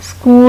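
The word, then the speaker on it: school: फिर आप स्कूल में आते हैं, स्कूल में भी एच साइलेंट है।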